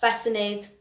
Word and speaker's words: fascinate: silent letter for example i've got muscle i've got fascinate and conscious okay so the c is silent there previous one the hour